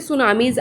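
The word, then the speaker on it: tsunami: तो उस वजह से सुनामीज़ आती हैं। तो इन देखिए वर्ड सुनामीज़ लिखा है और इसको प्रोनाउंस करते हैं क्योंकि टी लिखा है स्टार्टिंग में, तो टू सुनामीज़ नहीं होगा, ये होगा सुनामी।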